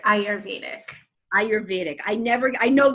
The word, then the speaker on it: Ayurvedic: yeah it's a well you pronounce the Y so it's I heard Ayurvedic Ayurvedic I never I